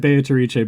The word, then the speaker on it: Beatrice: And besides, like the voiceover pronounces it Beatrice, but I digress. It's gonna be beet rice from now on.